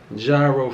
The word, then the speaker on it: gyro: But I'm gonna get started with this yummy gyro first.